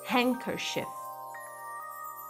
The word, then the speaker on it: handkerchief: Handkerchief. Edge, edge, que é limite, né? I'm on the edge. Grandson, grandson, que é neto. Bridge, bridge, que é ponte, tá? Então, nessas palavras, o D não é pronunciado.